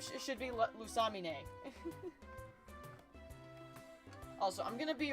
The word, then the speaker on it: Lusamine: purpose because I'm sorry her name should be pronounced lamina when I when I watched the sun and moon anime and found out that her name was pronounced lusamine I was really annoyed because I'm sorry her